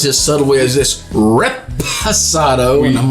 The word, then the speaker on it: reposado: So, anyhow, we was just having a discussion about how you say Reposado and not say it right. Which it's not Resposado. It's not Resposado, which I unfortunately have said multiple times.